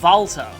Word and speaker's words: Walter: oh by the way this guy's names actually pronounced Volta you only know that if you look at the color karma or heard in games and voice acting but yes it is actually pronounced that way oh ho nice